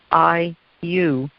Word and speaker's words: iu: know that we are iu iu is a quechua word pronounced i you which means community perfect word as said